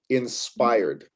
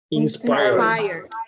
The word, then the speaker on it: inspired: repeat after me please inspired inspired inspired inspired by inspired inspired the stress is right there in the middle of the word alrighty good stuff so